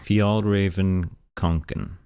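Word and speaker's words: Fjällräven Kånken: I'm not bilingual, so I don't know how to pronounce that, so I'll insert correct pronunciation here. Fjallraven-Kanken.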